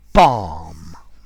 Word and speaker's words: balm: hi there students bomb b-a-l-m notice the pronunciation like calm or Palm um bomb of herb